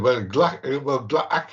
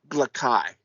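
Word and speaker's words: Gla'aki: Mind you, Glaki is technically the way to pronounce the old guy, I think, because there's an apostrophe in there.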